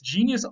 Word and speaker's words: genius: Genius also goes back to gen, and it goes back to a Latin word that is spelled the same way but pronounced genius.